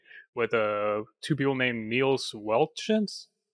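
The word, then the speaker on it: Niels Wittich: uh two people named niels welchins i think it's neil's whittage that's how you pronounce it yeah it's a british name and then eduardo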